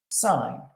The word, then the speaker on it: sine: first of those is sign it's pronounced like sign and the abbreviation is